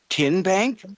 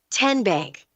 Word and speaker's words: TN Bank: How do you say the name? TN Bank. Nope. Tin Bank. Uh-uh. So, what is it? 10 Bank. 10 as in Tennessee.